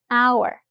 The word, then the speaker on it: hour: Let's meet in hour. Listen closely. Hour. We know from before that the H is silent.